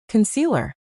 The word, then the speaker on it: concealer: We shrink that first syllable into a quick relaxed a sound. It sounds like cu n. Then we hit the middle syllable hard c. And then another lazy sound at the end. Lur cu lur. Concealer.